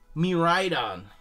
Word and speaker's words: Miraidon: Miraidon! That's how you say it.